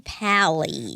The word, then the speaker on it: Pally: Adam Pali. Adam Pali is a pal of mine and that's why I always pronounced the Al.